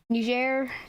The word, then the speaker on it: Niger: here just dominated the same as libya um niger yes that's how you pronounce it it's not the war it's not